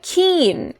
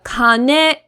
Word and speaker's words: 金: week, we have the kin in kinyobi. So this word has 2 pronunciations that are important. One is the kin in kinyobi. The other is the kane in okane.